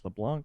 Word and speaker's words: LeBlanc: like LeBlanc LeBlanc um it's technically like LeBlanc and the C is silent because it's French but like I just always say the seed because if someone needs to spell my name they need to hear the C so blah blah blah